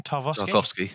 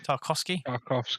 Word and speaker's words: Tarkowski: Tarkowski. Tarkowski.